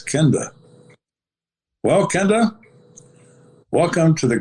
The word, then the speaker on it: Kenda: said you mean my name yeah i said kenda well kenda welcome to the greatest show on